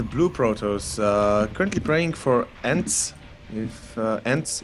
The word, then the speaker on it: Ence: And in the top right corner is the blue Protoss, currently playing for Ence. If Ence, Ence yep. Esports. Ence, okay. I didn't know how to pronounce it correctly.